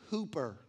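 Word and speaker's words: ὑπέρ: That phonetically is sounded hooper, as to say, I play basketball and I'm a hooper. That's how that sounds.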